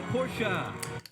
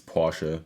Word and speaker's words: Porsche: it's not Porsche it's pora but if you want to pronounce the r in you know the English way then yeah pronounce the e at the end please all right and